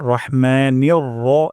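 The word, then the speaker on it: الرحمن: তারপর রহমানির এখানেও র উচ্চারণ করব, রা উচ্চারণ করব না।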